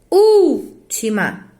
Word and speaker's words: última: Amou daquela vez como se fosse a última. Por quê? Porque é uma proparoxítona. Última. Última. Todas as vezes que é uma proparoxítona, ou seja, a sílaba tônica é a antepenúltima, ela vai ser acentuada.